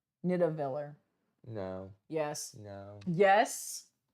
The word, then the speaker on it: Nidavellir: How do you pronounce the AE? You spelled it wrong. It's Nidavellir. Nidavellir.